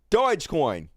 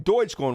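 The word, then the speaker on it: Dogecoin: influencers on Twitter and Dodge Coin or Dodge Coin Deutsche coin what have you how do you pronounce that d-o-g-e coin and so that has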